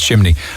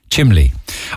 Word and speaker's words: chimney: saying, oh my God, you don't know how to pronounce chimney. I just think it's lovely. I just think it's cute. It's Cork, isn't it? Chimley.